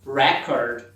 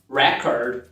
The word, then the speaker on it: record: Record. Se é um substantivo, a primeira sílaba sempre vai ser a tônica. Record, project. Se for um verbo, o verbo gravar, registrar, record. Então temos record, record, project, project.